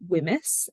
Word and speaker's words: WHMIS: already mentioned what it stands for and you pronounce it whims wi m i um and basically it is